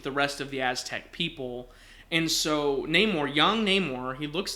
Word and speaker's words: Namor: Amor means love and so he makes his name no Amor or Namor and when we pronounce it it would be Neymar okay so very cool